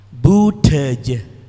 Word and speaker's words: budaya: Jadi menurut kaidah fonetis bahasa Madura itu yang benar adalah budaja, bukan budaja atau budaja.